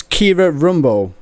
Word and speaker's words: Kiera Rumbough: minute hello hi hi hi so your name's Kira Rumbo is that yes is that how you pronounce it yeah yes I normally get names